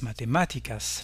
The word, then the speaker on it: matemáticas: Tous les mots espagnols qui se terminent par ico ou ica, la forme féminine, ont leur accent sur la syllabe antépénultième, à savoir l'avant-avant-dernière syllabe, las matemáticas.